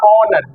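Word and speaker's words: honour: S short term देखें तो जैसे मैंने ऐसे पढ़ा आवर, आवर, तो आवर में एस साइलेंट है, आ रहा है इसलिए एन लगेगा। ऐसे या ऑनर, क्या आ रहा है ऑनर, ऑनर में ओ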